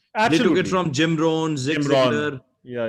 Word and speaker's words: Jim Rohn: Jim Rohn is one of the best speakers that you how can do you listen pronounce to. it? Jim Rohn.